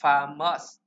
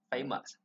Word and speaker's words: famous: And number three, he is a famous. Không phải là famous, nó là âm A chỗ này. Chúng ta sẽ làm A, famous.